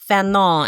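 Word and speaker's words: Fanon: Um and I remember her pronouncing Feno and um you know making sure that I pronounced it um with a French accent.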